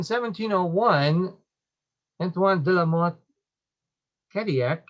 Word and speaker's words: Cadillac: Then in 1701, Antoine de la Mothe Cadillac, and that's how you pronounce it in French. The double L is a Y sound, so it would have been Cadillac.